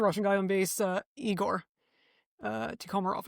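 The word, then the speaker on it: Tikhomirov: Tikhomarov, I think is how you pronounce his last name.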